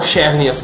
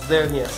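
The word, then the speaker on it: Xerneas: Igual Chernias. Você não fala Chernias, fala Zernias. É a pronúncia é desse jeito. É a função de Z mesmo.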